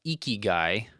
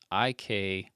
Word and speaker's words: Ikigai: shortly after the one we'll cover this, but Ikigai is how you say this. Ikigai, Ikigai.